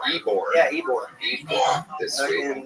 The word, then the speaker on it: Ybor: Ybor? Ybor. Ybor.